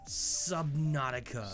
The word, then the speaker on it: Subnautica: Subnautica.